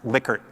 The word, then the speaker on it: Likert: proclivities Likert scale data and it really is pronounced Likert not like er even though it's Li ke